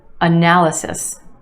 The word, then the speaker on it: analysis: analysis. Analysis. Four syllables in this word with emphasis on the second syllable, the a sound.